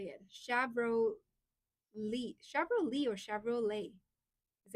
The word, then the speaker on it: Chevrolet: Shabro Lee. Shabro Lee or Chevrolet. Is it Lee or Lee or Lei? Leah. Shavelet or Chevrolet.